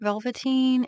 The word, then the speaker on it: Velvetine: And the reason I'm calling it Velvetine, I'm pretty sure that's how it's supposed to be pronounced. Does anybody remember the Velveteen Rabbit? That is what makes me know how to say it.